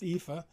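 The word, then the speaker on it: EAFE: created Capital International created the epha that's how it's pronounced epha Europe Australia and the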